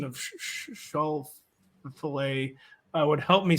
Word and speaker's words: Schauffele: And you got to take the Lee out of it. There's no Lee. Yeah, Lee. Okay. Schauffele. We're talking 2 syllables.